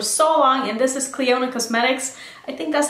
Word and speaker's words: Clionadh: I know it's spelled with a DH in the end, and that really trips me up because I don't know how to pronounce that. But I think it's Clionadh, and I have the